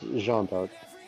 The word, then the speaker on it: Jeanne d'Arc: So technically her name is Jeanne of Arc. But in French it's Jeanne d'Arc because it's Jeanne d'Arc, Yeah. but de means of. But because of the way French syntax works, it's shortened to the apostrophe arc, which is Yeah.